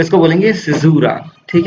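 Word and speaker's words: caesura: तो देखो सिजूरा, इसको सिजूरा ही बोलेंगे, इसका प्रोनाउंसिएशन थोड़ा अलग है, लिखने में अलग आता है सिजूरा।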